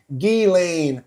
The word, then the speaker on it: Ghislaine: So he gave them the pron the right pronunciation which is Gain Maxwell.